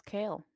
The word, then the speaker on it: Kael: Yeah, his name is Kale. Kale? Oh, Kael. delicious. Like the vegetable.